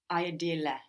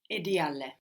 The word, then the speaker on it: ideale: Ideale. The I, we don't pronounce it like I, like in ideal, do we? How do we pronounce it in Italian? Edile. Like ink. Edile. It requires a lot of thought, this one, huh?